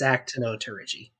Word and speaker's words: Actinopterygii: Actinopterygii. I'm not a fish paleontologist, so I probably butchered that. We're but not fish biologists. I'm a paleontologist. It's Actinopterygii. Yes.